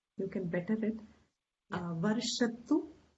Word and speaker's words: वर्षतु: Varshatu is a chota u, so don't lengthen it.